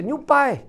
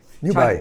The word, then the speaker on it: 牛掰: Young people say new buy. New buy. New buy. That's a person like you. Just remember these words. Okay? Yeah, we absolutely. Next time I ask absolutely. the pronunciation. New buy.